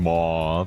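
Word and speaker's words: Medb: Uh, Queen Mau as we found out is how we pronounce it. Uh, Elizabeth, uh, Rama, Arttoria, Arttoria, uh, Betavir, uh, what's his name again?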